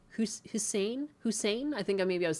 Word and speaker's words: Hussein: No, Hussein. Hussein?